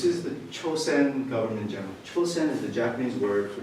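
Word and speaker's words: Chōsen: Chosen is the Japanese word for Chosun, which is what Korea was known as. This is the Japanese pronunciation. Korean is Chosun, Japanese is Chosen.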